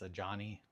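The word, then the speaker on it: Adjani: Also, I like that at this point that after explaining to people that my bonsai's name is a Johnny, which is spelled A D J A N I.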